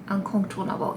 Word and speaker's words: Incontournable: So, this is called Inimitable and this is Incontournable and did I say it right? Incontournable.